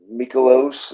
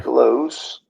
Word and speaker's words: Mikolas: He had what, one bad start 2 ago, and like you just said, Miles Mikolos is how you say it. Yeah. Mikolos.